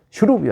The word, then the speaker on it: 슈룹: 좀 히어로 얼마나 좋습니다 저는 좀 길게 발음하라고 돼 있어요 슈루 이렇게 슈룹이 아니고 슈룹 여러분 다음 시간에 또